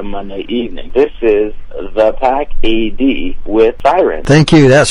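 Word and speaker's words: The Pack A.D.: is uh pack A.D spelled like it sounds exactly how it sounds all right Like the Wolf Pack you know right and then anno domini that's after Christ that's it the after Christ perfect and they just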